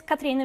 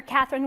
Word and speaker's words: Cathrine: sponsors my name is katrina or catherine if that's easier to pronounce i'm from norway and